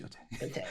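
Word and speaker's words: Yōtei: It's pronounced Yotei. See, I keep saying, I said, my first thought, I read a lot of manga, watch a lot of anime. You see an EI, it's A. It's A. Right. But because I keep hearing people mispronounce it, I started mispronouncing it.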